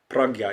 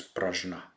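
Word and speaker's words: प्रज्ञा: so prajna or pragya pragya is the correct translation but often um it is pronounced as prajna parameter Perfection of wisdom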